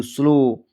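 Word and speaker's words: slow: डी ओ W window कहीं भी ओ डब्ल्यू लिखा हुआ ओ डब्ल्यू कहीं भी लास्ट में लिखा हुआ हो तो आपको ध्यान रखना है कि ओ की मात्रा से ही पढ़ना है।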